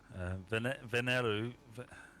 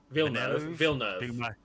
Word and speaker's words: Villeneuve: Venelu. How do you say that? Well, I don't know. Without reading it, I can't really tell you. Villeneuve.